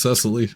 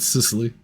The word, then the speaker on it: Cicely: I thought it was Cecily, not Sicily.